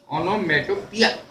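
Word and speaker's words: onomatopoeia: Oxymoron और O से ओनोमेटोपिया। तो इसका जरा उच्चारण भी ध्यान रखना पड़ता है। ओनोमेटोपिया, ये इसका सही उच्चारण है।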